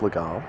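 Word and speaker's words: Légal: as the GAO's mate spell le gee al like legal but it's pronounced legal so here I can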